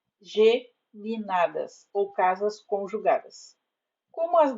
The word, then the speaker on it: geminadas: ou brotam do Sol a forma correta na fala na escrita é casas geminadas ou casas conjugadas como